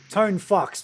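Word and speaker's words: Tonfuchs: The way the Germans were saying it was kind of like Tone Fox, but it didn't sound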